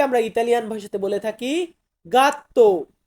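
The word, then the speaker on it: gatto: এটাকে আমরা বলবো ফাঁচিলে জি দিয়ে হচ্ছে গাত্ত গাত্ত মানে হচ্ছে বিড়াল বিড়াল কে আমরা ইটালিয়ান ভাষাতে বলে থাকি গাত্ত গা তো শুরুতে আছে জি আক্কা আক্কা আক্কা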